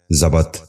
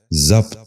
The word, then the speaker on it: ضبط: ضامن۔ تیسرا لفظ ہے ضبط۔ یہ غلط تلفظ ہے، درست تلفظ ہے ضبط۔ دوبارہ سنیے، ضبط۔ بچوں